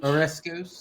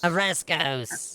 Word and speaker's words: Oreskos: Orescos. Oreskos! Yeah. And yes, Oreskos and Tethmos. They're not pronounced the same.